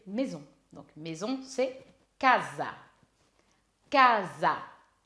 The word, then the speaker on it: casa: Casa. Attention, l'accent tonique, c'est sur la première syllabe. Ka. Donc, casa.